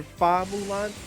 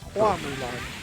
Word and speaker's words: Hua Mulan: That's why in Mulan, when you watch Mulan, they call her Fa Mulan. That's an incorrect. That's a Japanese pronunciation of Hua. Her name is Hua Mulan.